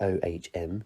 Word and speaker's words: Om: Today's breathing exercise is about the power of Ohm, pronounced O-H-M. Sometimes it's pronounced Ohm, sometimes it's pronounced Om. I personally prefer Om, but the choice of how you pronounce it is up to you.